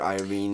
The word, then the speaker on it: Iovine: Have you seen that documentary that was on HBO with Jimmy Iovine? Is that how you say it? Iovine?